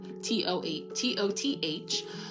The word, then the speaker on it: Thoth: So as you see, Thoth, Thoth, is pronounced Thoth, Toth, also known as 𝓘𝓷𝓽𝓾, as the ancient Egyptian ibis-headed god of writing, divine magic, and the moon.